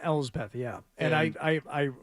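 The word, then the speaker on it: Elsbeth: Ellth, I think it's a L's Beth.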